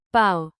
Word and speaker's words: πάω: Stress matters. Πάω. Πάει. Πάμε. Πάτε. Πάνε. Keep the accent on the first syllable.